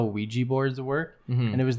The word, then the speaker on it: Ouija: It has four vowels in it. Ouija. But it only pronounces the sound of the one vowel that's not in it, which is the E. Because it's Wee.